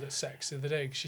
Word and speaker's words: CeX: So it's called it's called but it's pronounced sex really because they they they um did some of their marketing I think they put like we love sex.